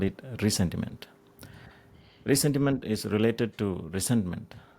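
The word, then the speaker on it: ressentiment: It is pronounced as recentma but for the sake of simplicity we'll call it resentiment.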